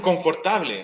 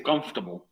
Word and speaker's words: comfortable: Uno la lee y dice, oh, dice confortable. No, dice comfortable. Ahí tiene 3 sílabas.